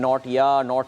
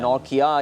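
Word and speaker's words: Nortje: We were saying नॉट या बट बताया नहीं जी ये नौकिया ये मोबाइल फ़ोन के नाम से मिलता जुलता जो है ये इनका है.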